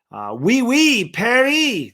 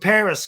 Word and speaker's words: Parris: Perry. It's not really the way you say his name, but Parris Campbell, former Indianapolis Colt,